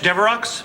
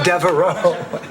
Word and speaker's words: Devereaux: Flowers for Blanche Deveroux? Oh, no, that's Devereaux. It's only pronounced Deveroux in limericks.